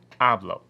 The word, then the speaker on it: hablo: ends in a vowel, the stress is going to fall on the second to the last syllable.